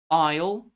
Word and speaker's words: isle: Isle. Arkansas. Bourgeoa. Core. S is silent here too just as P P and